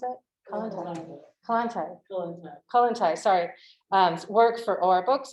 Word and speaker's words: Kollontai: She's currently editing a collection of Alexandra Kollontai, how do you pronounce it? Kollontai, sorry, work for OR Books and international publishers, and she is writing the introduction to that volume.